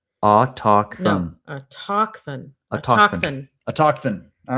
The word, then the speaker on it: autochthon: No, the emphasis is on the talk. Autochthon.